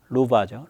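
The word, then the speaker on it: Luchs: 루아라는 애 만들고 있는데 지금 루바죠. 루바. 독일은 W로 바라고 읽으니까.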